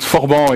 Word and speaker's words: Forban: something called forban uh you can pronounce it with a French accent sorry for my French accent um but forban is uh a play